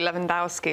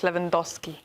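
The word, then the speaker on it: Lewandowski: It's always funny to me when Americans say Leandowski. It's Leandowski.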